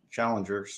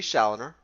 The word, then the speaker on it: Challoner: I was able to hang out in the top 20, and then I almost wrecked Chris Challengers, or however you say his name. It would be Challoner.